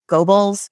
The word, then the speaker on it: Goebbels: if you could go back and like poison Goebbels, how do you say his name? Goebbels?